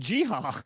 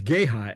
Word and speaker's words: Geha: here's The Dental Connection there is an insurance company named jiha and it spells exactly the same so this is GHA yes it is it is different but it's Gaya actually okay and that